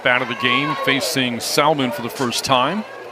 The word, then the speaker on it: Salmon: By the way, Salmon does spell her name like salmon, S-A-L-M-O-N. And it always annoyed me when people would call it Salmon, but that is her last name, pronounced Salmon. Salmon. It's not the same.